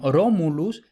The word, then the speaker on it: Romulus: En Romulus tenemos ro, es una sílaba abierta, pero la vocal es larga por naturaleza, es decir, porque viene en el diccionario larga, ¿no? Entonces, sí es abierta, pero la vocal es larga, por tanto, la sílaba es pesada, por eso está en negrita.